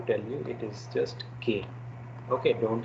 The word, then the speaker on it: qué: Okay, the pronunciation I have to tell you, it is just "k." Okay, don't say "que."